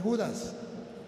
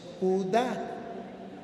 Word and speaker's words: Judá: No es Judas, es Judá.